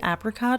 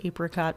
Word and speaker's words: apricot: nice also side note do you guys pronounce it apricot or apricot because I've heard it both ways and I feel like